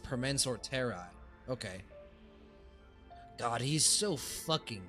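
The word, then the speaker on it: Permansor Terrae: Don Hung for Mansorteri. Oh, it's pronounced Permensor Terrai.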